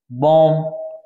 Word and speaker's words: bomb: जैसे BOMB, बॉम, ये B silent रहेगा, इसका उच्चारण नहीं किया जाता।